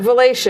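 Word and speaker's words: Valatie: that yes i am seeing that word but valacia is the way it's pronounced and you'll be at the uh falcon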